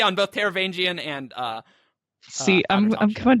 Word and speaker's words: Taravangian: Taravangian. Oh, Mish pronounced something correctly.